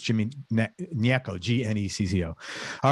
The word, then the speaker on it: Gnecco: background on jimmy it's it's i'm going to pronounce his last name neko but it's it's g-n-e-c-c-o all right so it's jimmy nieko g-n-e-c-o all right he's an artist who sings